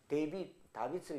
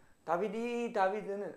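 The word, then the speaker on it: דָּוִד: 그 다음 다빗을 얘기하는 다비드, 예, 다비드. 여기 보면 점이 하나 붙어 있어요. 다비드는 앞에 두 개가 붙어 있을 이유가 없잖아요.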